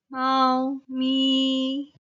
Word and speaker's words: 貓咪: term 貓咪 is cat these two Chinese characters 猫 and 咪 are pronounced with the first tone 貓咪 cat then 餐廳 restaurant